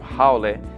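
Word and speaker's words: haole: in Hawaiian culture the term how pronounced howy which that's wrong it's how generally refers to someone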